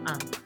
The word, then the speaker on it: ans: Don't pronounce the S in your un.